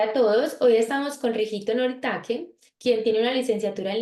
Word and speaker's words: Rihito Noritake: En la pronuncia de japonés, mi idioma materno, me llamo Rigito Noritake, pero no hay lío llamarme así en la pronuncia de español, así como Rigito o Rigito.